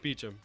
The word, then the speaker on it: Beauchamp: My last name is Beauchamp. Is it really? Yes. Is that how we've been mispronouncing it this whole time? No, Beecham. It's Americanized.